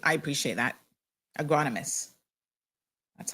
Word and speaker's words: agronomist: Agronomist. That's how you pronounce it.